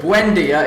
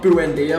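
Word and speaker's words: Buendía: episode let's do it Amelio Buendia is how you say not boo n do because that's what I was saying in the first episode shout do it with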